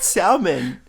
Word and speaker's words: salmon: Do some people pronounce it salmon? Yeah, I've heard a lot of people say salmon. It's like a tomato thing. I don't think it's Oh. yeah. You pronounce it Um, salmon? Yeah. How do you guys pronounce it? Salmon. Salmon. Yeah. But there's an L.